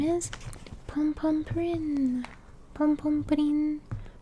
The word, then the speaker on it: Pom Pom Purin: mom told me that it's pom pom pudding. Pom pom pudding, that's how you say it in Japanese.